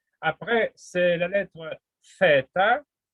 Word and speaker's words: theta: Après, c'est la lettre theta, comme en anglais, TH, theta, comme theoria, théorema.